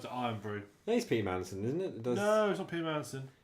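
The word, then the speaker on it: Irn-Bru: I'll go wherever the Iron Brew's cheapest.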